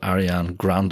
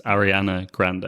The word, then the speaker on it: Ariana Grande: apparently a pop singer called Arian Grande if that's how you pronounce the girl name I think I think it's CL I think it's Ariana Grande I think is Ariana Grande that's the first time